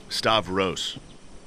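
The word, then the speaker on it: Stavros: stavos stavos stavos stavos how say it right stav rose right but you say rose stav rose right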